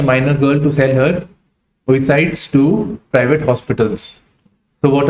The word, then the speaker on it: oocyte: Then it is looking at group of persons had forced a minor girl to sell her oocytes to private hospitals.